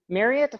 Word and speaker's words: Marriott: Everybody thinks we're crazy, but it is actually Marriott like a chariot.